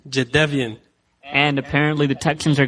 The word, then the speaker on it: Jadeveon: story from this draft is how do you pronounce this guy's first name? Because it is not Jadeveon. Oh, sorry, Swap. What is it? Darren? It is Jadeveon. Jadeveon.